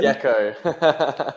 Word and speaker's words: Gecko: Is that the right way of pronouncing, Ben? Gecko. Gecko. Like the animal.